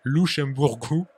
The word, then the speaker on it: Luxemburgo: Ah non, non, non, pas tout à fait, parce que déjà je ne sais pas pourquoi tu ne le prononces pas à le portugais comme il faut. C'est Luxemburgo Merci.